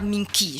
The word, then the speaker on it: Minki: Chez les femmes, on appelle le beau-père ou la belle-mère Minki. Je prononce bien la fraîche.